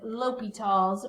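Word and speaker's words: L'Hôpital's: limits and that it's going to be with l'hopital's rule and that's how you say it so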